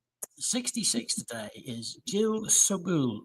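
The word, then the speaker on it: Jill Sobule: s 66 today is Jill subul or sole pronounce it how you like s o b u l e she's an American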